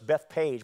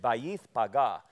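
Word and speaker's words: Bethphage: and came to bayth paga which is we pronounce that in English Beth Page but that's not how you pronounce it it's bayth paga and I'll explain what the name means in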